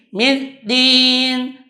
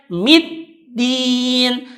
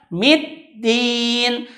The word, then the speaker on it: middin: Di sana ada tasydid, maka apabila ada tasydid maka ditekan. Dia membacanya seperti ini. Middin. Tidak menekan. Seharusnya dibacanya middin. Tekan dulu baru disebut middin. Tidak boleh dibaca middin. Maka yang benar adalah middin.